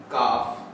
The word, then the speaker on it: calf: काफ, CALF, तो अक्सर ए के बाद एल आता है तो इसकी साउंड गायब हो जाती है, यानी ये साइलेंट हो जाता है।